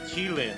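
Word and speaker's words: qilin: is spelled or it it's a kilin which is qu or no it's q-i-l-i-n and that is uh the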